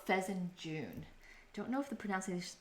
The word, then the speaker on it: fesenjan: stew Feen it's called fezen June don't know if the pronun pronunciation is correct but the the last three letters I think is pronounced like j o o n rather than J an and of course we